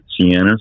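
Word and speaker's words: Ceanas: bayou restaurant called siena's it starts with a c so it's it doesn't exactly look like the the same way that you you would spell it but it's c e a n a s siennas and it's right on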